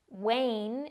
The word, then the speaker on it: wane: it will sound like the word rain Way Wayne is a verb it means to become weaker